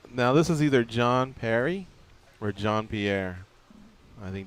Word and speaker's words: Pierre: doing hey uh yeah it's John Perry uh don't worry should there be a y at the end of your name no no no it's spelled p i e r r e p i so you're John Pierre yeah yeah it's uh it's French but uh it's like Canadian French so Danny why' you